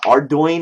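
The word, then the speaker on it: Ardougne: arone or ardoin ardoin yeah that's it uh ardoin is how it's pronounced like how the do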